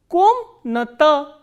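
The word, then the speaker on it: комната: Next we have ka, o, ma, na, a, ta, a and stress is on o. So, how will we pronounce this word? Komnata, komnata.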